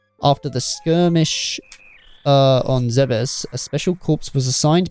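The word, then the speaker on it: Zebes: the planet say yeah it turns out it's pronounced Zeus the Pirates stole the metroids and took them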